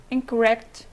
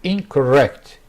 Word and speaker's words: incorrect: Incorrect, independent, insufficient. So the word originally is correct. Correct. The stress is on the second part. And incorrect.